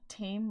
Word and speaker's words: Tame: It's pronounced tame, like lame.